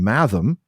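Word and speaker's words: mathom: For example, bulier has G as in bulge and math rhymes with fathom.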